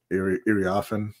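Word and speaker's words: Iriafen: I'm not 100% sure how to pronounce her name. Irioffen, I believe is how you say it.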